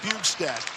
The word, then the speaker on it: Bjugstad: Coming off his 800th National Hockey League game, Nick Bjugstad. The J is silent.